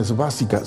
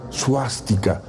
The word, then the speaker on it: suástica: esvástica así conocida Pero aunque se pronuncia de esa forma realmente no se llama es básica se llama suástica y proviene precisamente su